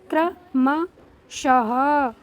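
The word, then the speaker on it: क्रमशः: इसका उच्चारण होता है क्र। इस तरीके से होता है इसको इसका उच्चारण। तो इसको हम पढ़ेंगे क्र म शः। क्र म शः बिल्कुल।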